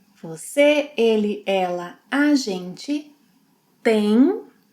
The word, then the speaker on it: tem: Você, ele, ela, a gente tem, tem nasal sound. Vocês, eles, elas tem, tem. Tem and tem have the same pronunciation.